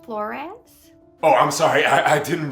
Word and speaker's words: Flores: So it's actually pronounced Flores.